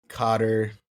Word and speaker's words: Qatar: Then, on the other hand, you have nations that are historically, I guess, less friendly to the idea of socialism, like Japan, Qatar.